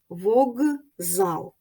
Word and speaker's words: вокзал: глухий А потім дзвінкий як у слові вокзал к глухий з дзвінкий дзвінкий сильний він впливає на попередній глухий к і вимовляється як парний йому Ґ вог зал Отже щоб визначити явище